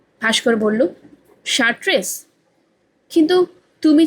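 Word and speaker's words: Chartres: ভাস্কর বলল, এটা তো দেখছি চার্ট্রেস। অসীম বলল, একটু আগেই বললুম না CH এর হবে স। ভাস্কর বলল, শার্ট্রেস?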